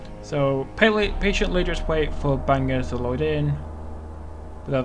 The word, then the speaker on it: Bangor: Yeah, I'm pretty sure that's pronounced Bangor, not Bangor. So Bangor, platform 2.